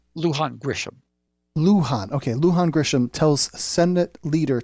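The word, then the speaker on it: Luján: the middle name what's the governor's name lujan-grisham Luhan ok lujan-grisham tells Senate leader to leave race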